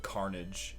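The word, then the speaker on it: Karnaaj: It's a game for the Game Boy Advance called Carnage, and it's spelled K-A...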